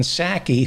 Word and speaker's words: Psaki: white house press spokesman jenn sackey whose p is silent she was pissed off